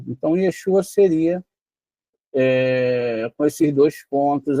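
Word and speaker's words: ישוע: Então Yeshua seria com esses dois pontos aqui. Veja, a vogal da primeira sílaba de Yeshua é tserê. A sílaba tônica é shu.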